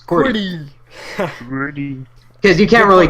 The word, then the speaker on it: QWERTY: Following it to the right is WERTY, and because we can phonetically pronounce that, we refer to them as QWERTY.